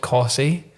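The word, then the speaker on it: Costessey: the city there's like this place called CSY and there's it's it's spelled C O S T E S S E Y and there's there's a place near me called Windom.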